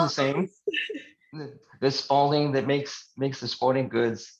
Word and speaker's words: Spaulding: The Spaulding that makes the sporting goods doesn't have a U in their name.